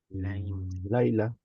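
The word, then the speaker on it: לילה: Laila Top, Laila, tiene acento en la primera, Laila Top.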